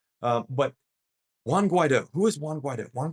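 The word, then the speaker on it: Juan Guaidó: Guaido, and I had to make sure I pronounced that right. Juan Guaido.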